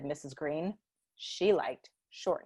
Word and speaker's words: Greene: Greene, that's Greene with a silent E at the end, discovered they were expecting a baby girl.